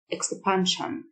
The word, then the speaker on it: expansion: مد أو تمديد expansion، ال S-I-O-N تنطق شن، expansion.